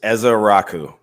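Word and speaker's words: Ezeiruaku: It's Ezaraku. Eza Araku.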